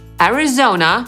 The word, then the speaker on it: Arizona: Więc A jak Alabama /æləˈbæmə/, Alaska /əˈlæskə/, Arizona /erɪˈzoʊnə/ i ten pierwszy kłopotliwy – Arkansas /ˈɑːrkənsɑː/.